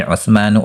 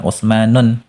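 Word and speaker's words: عثمان: Seperti Utsmanu Utsman, Salmanu Salman, Hilmanu Hilman. Ya, bacanya jangan ditanwin, jangan Utsmanun. Salah, ya.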